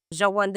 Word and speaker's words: Shawanda: Shawanda is actually the proper pronunciation of my last name, Shawanda, which was changed many, many years ago so that it would be easier for everyone to pronounce.